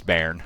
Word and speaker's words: Bearn: I was saying it was Bearn. He was saying it's Bearn. Turns out it's Bearn.